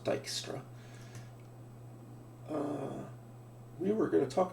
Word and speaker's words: Dijkstra: this is Dijkstra's algorithm that is a Dutch spelling so it's pronounced Dijkstra we were going to